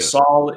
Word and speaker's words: Sol: curious you mentioned the soul Foundation you all pronounce it SA or Soul I've heard it pronounced oh as in like solar solar that makes sense yeah Saul is the um Latin